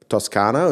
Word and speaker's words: Toscano: And obviously you've built a successful company with Toscano. Is that how you pronounce it?